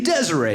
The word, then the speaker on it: Desiree: i'm looking at names i say the name desiree because that's what it looks like i go desiree and this girl corrects me she's like no it's pronounced desire yeah i'm not calling